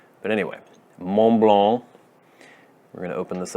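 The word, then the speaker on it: Montblanc: French people like to pronounce words as though their mouths are filled with cotton balls. They don't like consonants. But anyway, Mont Blanc.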